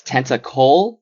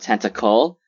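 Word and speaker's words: Tentacole: uh hurakoshi says uh it's tentacol not tentacle sorry to the readers shoji and yayuruzu for making this error in the japanese version um is this in reference to mispronouncing or misnaming a character i think yeah shoji's name is tenta cole so i guess i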